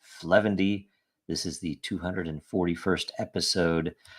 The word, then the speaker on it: 0xf0: dragon chain update show this is episode 0xf0 pronounced fendy this is the 241st